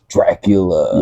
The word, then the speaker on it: DRQLA: Dracula. Yeah, and that's spelled DRQLA. We put a little hipster twist on it.